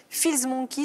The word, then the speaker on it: Fills Monkey: Bonsoir Isabelle, et on commence ce soir avec Feels Monkey, c'est ça, je prononce bien? Exactement, c'est parfait.